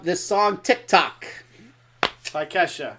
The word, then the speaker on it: Ke$ha: Ida look up this song Tik Tok by Ke$ha like is that how you pronounce it thank you for saying that I